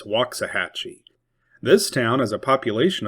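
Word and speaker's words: Waxahachie: It looks like it's spelled Waxahhatchee, but it's Wahhatchee.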